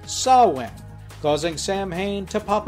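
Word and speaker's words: Samhain: somewhere the goblin stopped Sam Hayne mostly by reminding him that his name should be pronounced Sawan causing Sam Hayne to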